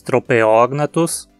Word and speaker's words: Tropeognathus: dos requisitos para cetônica de novo logo a pronúncia anurognathus e se dizemos a neurotoxina trouxe também dizemos tropeognathus e bata cognatos não se esqueça de que